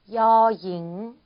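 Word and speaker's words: ญ หญิง: 13번 보시면 초자음이 Y 발음이에요. 그렇죠? 그래서 어가 아닌 여라고 발음이 되고 있습니다. 자, 여잉, 여잉이라고 하시면 되고요.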